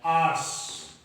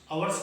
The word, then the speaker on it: ours: Pronoun OURS लगता है, आर्स। आवर्स नहीं होता सही, आवर्स नहीं कहते, सही प्रोनाउंसिएशन होता है आर्स, और इसका रिफ्लेक्सिव प्रोनाउन होता है आरसेल्व्स।